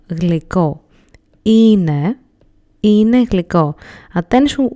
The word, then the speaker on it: είναι: Είναι γλυκό. Attention, we do not write είναι this way, but this is how we pronounce it.